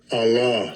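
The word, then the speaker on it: אָלָה: be H 423 strongs h42 3 Allah oh Allah I got it right I got it right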